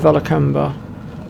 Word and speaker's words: Vilcabamba: are pretty much done with the city of valac camber yay I managed to pronounce it properly this time valber okay so that's going to be it for